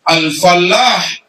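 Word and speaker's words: الفلّاح: Kalau bertasydid al-falah artinya petani. Kalau tidak bertasydid bacanya al-falah artinya keberuntungan.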